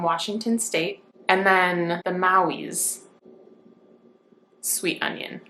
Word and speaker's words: Maui: And then the Maui's sweet onion. I think I'm saying that right. It's spelled Mauis, and it's from Hawaii.